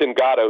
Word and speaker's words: Ngata: sakias Quest Watkins Joe NADA we've been to I'm sorry Joe ingata it's I asked the Eagles PR staff about how to pronounce it it's in gato who's been the he's